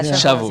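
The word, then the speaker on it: שבוז: Yeah, Shavuz. yeah. That's how you say it.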